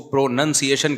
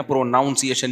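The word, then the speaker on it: pronunciation: इसमें कयास नहीं चलता जैसे प्रोनाउन है प्रोनाउन है लेकिन जब इसको प्रोनसिएशन कहेंगे ना प्रोनाउंसिएशन नहीं कहते तो मैं अपनी तरफ से इ्तहाद करके प्रोनाउन से प्रोनाउंसिएशन बनाता था मुझे किसी ने बताया यह प्रोनाउंसिएशन जब होगा तो प्रोनंसिएशन होता है नाउन नहीं तो लुगत में कयास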